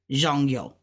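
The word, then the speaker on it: 重要: Now this is two fourth tones together, zhong yo. So we're gonna say it fast, zhong yo, because that's like a how, but you wouldn't pronounce it how like ni hao, because how is third tone.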